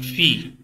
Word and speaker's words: fille: Une fille. You might have a question, sir. When you spell it, you are telling the L, but when you pronounce it, you are omitting the L.